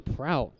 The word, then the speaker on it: Prout: Have I mentioned it's pronounced Prout?